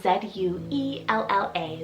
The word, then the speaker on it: Zuella: girl side is the name zuvala it's about z-u-e-l-l-a zuella and this one's a hidden virtue name